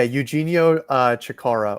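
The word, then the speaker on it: Eugenio Chacarra: Yeah, Eugenio Chikara or Eugenio. That is the way to pronounce it properly.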